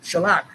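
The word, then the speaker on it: חָלָק: think it's sha okay spelled c h a l a q to the same of the k sound c h a l a q shellac two five zero nine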